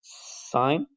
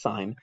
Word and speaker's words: sine: have these three functions sine cosine and tangent and again one more time that is not sin i'll show you guys that it actually says sign this one says cosine